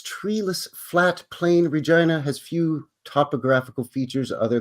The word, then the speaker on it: Regina: Regina is Latin for Queen right but we pronounce it Regina not Regina and you are Gina Gina he what's up